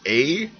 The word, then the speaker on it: Avordo: You can pronounce it any way you want, but it's Avordo.